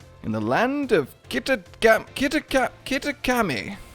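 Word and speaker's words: Kitakami: the land of kitten kittakami that's actually how you pronounce it those like three attempts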